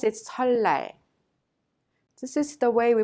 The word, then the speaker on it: 설날: So you pronounce it 설날. This is the way we pronounce it. Repeat it. 설날, 설날.